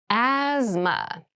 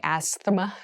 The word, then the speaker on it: asthma: deep cavity asthma asthma asthma so this word has very interesting spelling there's a th in the middle but we don't say asthma we say asthma so kind of ignore that but try to